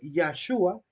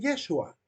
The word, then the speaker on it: Yeshua: vean como por ejemplo los judíos cambian la pronunciación la pronunciación de Jesús en vez de decir yahshua dice en yeshua le caben una un sonido de vocal a una e en vez de una a Porque esa de alguna